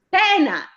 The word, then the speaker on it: pena: Adesso, pena. Pena. Allora, questo l'accento è aperto.